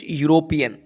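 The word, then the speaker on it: European: Mister David यूरोपियन, यूरोपियन या की आवाज आ रही है, कंसोनेंट साउंड है, तो इसका जो राइट आंसर होगा ए होगा।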